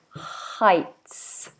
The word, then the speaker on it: Heights: head for Heights and Heights is a funny word because it's spelled very very oddly compared to how it sounds so Heights Heights I Heights making sure we get that TS sound in there so I have